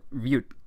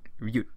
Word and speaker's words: Rute: a few people from mute village rute rute with an arm I that's what I said I just didn't say it that pronounced um it almost sounded like I said mute so I want to